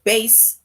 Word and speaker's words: bass: And this word bass, right, it rhymes with case. So bass rhymes with case, right?